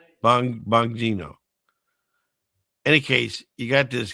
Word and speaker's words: Bongino: But any case, here Bon Bong Bongino.